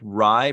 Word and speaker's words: Rye: Rye is pronounced like rye or chai.